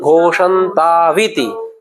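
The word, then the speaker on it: घोषन्ताविति: तो हमें इसे कैसे प्रोनाउंस करें? घोषंताविति, घोषंताविति, औ नहीं पढ़ना ना, घोषंतो इति। अगर घोषंतो इति पढ़ते हो तो फिर इति पढ़ना पड़ेगा, घोषंतो विति पढ़ेंगे अशुद्ध हो जाएगा।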